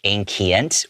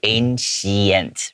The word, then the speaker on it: ancient: it would be pronounced ancient or ancient, right? But the way that I pronounce it is I have like a CH sound, the ancient, like that.